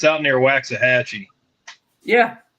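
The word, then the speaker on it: Waxahachie: a bell because it's yeah it's out near waxah hatchee yeah it's waah Hatchy it's wax it's wax it's freaking wax don't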